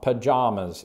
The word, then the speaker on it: pajamas: weird song lyrically uh with the vowel in jam or with the vowel in palm palm pajamas yes and not others